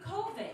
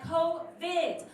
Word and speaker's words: COVID: Fiji dad and he coveted he was like covet covet I was like no it's covet dad covid with a hard D which is what